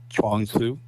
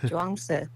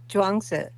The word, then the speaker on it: Zhuangzi: But I would love to train with uh, Chuang Tzu. Not sure I'm familiar with that name. Mm-hmm. Hang on, I'll have my wife say it properly. Zhuangzi. It's Zhuangzi.